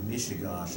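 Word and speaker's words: Mishegas: You can see it there, but Mishigosh is spelled M-I-S-H-E-G-A-S, master.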